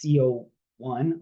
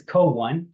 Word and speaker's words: CO1: oxidase one abbreviated as co1 or uh pronounced uh in practice is co-1 kind of like co-pilot and one co-1 that's a good marker